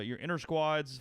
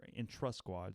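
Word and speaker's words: intrasquad: Tomorrow, or your inter squads for baseball, if you're in trust squads, not inter squad, in trust squad. People mispronounce that all the time, including me.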